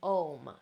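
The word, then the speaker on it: aum: And then finally, the third eye is om. Now, om is actually spelled A-U-M.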